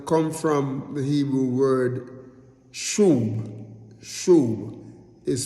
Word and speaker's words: Shuwb: These words, they come from the Hebrew word Shuwb. Shuwb is spelled S-H-U-W-B.